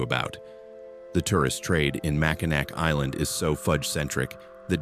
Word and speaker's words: Mackinac: Mackinac Island, spelled Mackinac, pronounced Mackinac because Michigan, is a small island where motorized vehicles have been banned since 1898.